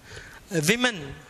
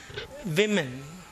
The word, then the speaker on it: women: Women, plural noun. இது என்னது உச்சரிப்பு? Women, சொல்லுங்க.